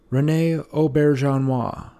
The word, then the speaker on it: René Auberjonois: I'm going to say Rene Auberjonois. In today's video, we are going to learn how to pronounce famous actor Rene Auberjonois. Rene Auberjonois. René Auberjonois.